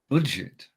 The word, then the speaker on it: Budget: But in German, it's pronounced the French way.